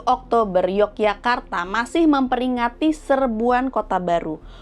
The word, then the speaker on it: Yogyakarta: Karena pada zaman Hindia Belanda, orang-orang Belanda dalam ejaan Belanda itu J dibaca Y.